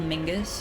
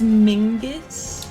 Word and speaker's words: Mingus: Is Norman Reedus' son actually called Mingus? Is that real? His name is Mingus. Mingus, not Mingus, right?